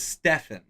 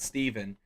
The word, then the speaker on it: Stephen: Stephen Stephen and Steve his name is Stefan spelled the same as Stephen but he says it's Stefan and not Steven draft invalid take all